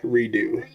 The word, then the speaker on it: Redux: Uh, re is it is it Redux? Is that how you pronounce that? Reux. Redo. Redux. Re Dux. It's a Redux.